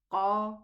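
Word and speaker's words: ق: Qu, al, waqudu, al-waqudu, qatala, qa, qa. Get it from the furthermost part of the tongue. Qa, as though you feel a ball striking inside.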